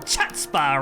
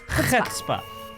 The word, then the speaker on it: chutzpah: It's nice to see that at least one of you has some chutzpah around here. Chutzpah. Oh, really? Mm-hmm. Chutzpah? Chutzpah. Why don't you pronounce the C? It's, I believe it's Yiddish.